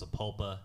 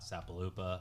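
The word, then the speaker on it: Sapulpa: and by the way guys I know it's pronounced saula not sapopa I was just kidding yeah and people did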